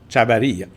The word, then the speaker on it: Chavarria: Donc, le V, souvent prononcé comme un B au Costa Rica. OK? Chavarria.